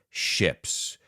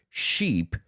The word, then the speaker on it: ship: have to do with ships which we now know are 20 meters and over and please let's pronounce that word ship not sheep ship because a sheep is bad ship so let's ask this